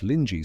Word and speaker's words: Linji: back to the Chinese Linji school, Linji pronounced roughly Lin Ji, being the Chinese name for what became Rinzai in Japan.